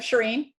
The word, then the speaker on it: Shereen: um i told is is her name pronounced sharing yep shereen i told her either